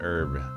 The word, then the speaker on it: herb: Yeah, sometimes people don't pronounce the H in herb.